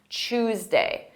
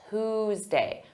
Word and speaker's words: Tuesday: it first for pronunciation some native speakers pronounce Tuesday as Chu Tuesday with a CH sound choose day this is not standard pronunciation in American English in American English Standard pronunciation is Tuesday Tuesday but you may hear Tuesday so don't be confused but I recommend you use Tuesday let's talk about to